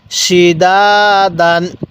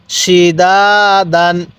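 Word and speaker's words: سِدَادًا: সালামুন এরকম ভাবে এবার বলবেন এই হরফ গুলোর উচ্চারণ কিভাবে পড়তে হবে সিনজের সি দাল আলিফ জবর দা দাল আলিফ দুই জবর দান সিদাদান কিভাবে পড়বো সিদাদান এরপরে সিন জবর শা র আলিফ জবর র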